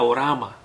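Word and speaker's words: ὅραμα: Ahora, la palabra visión en el mundo espiritual quiere decir que se pronuncia orama.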